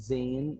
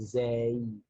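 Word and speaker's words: زاي: Yeah, so it's not called Zain, it's called Zay. Zay. Zay, like this.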